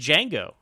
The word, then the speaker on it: Django: this but apparently did Django or Django the D is silent the 1966 film that